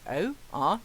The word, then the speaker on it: Orwell: People usually mistake my name. Thank you for asking. It's Orewell.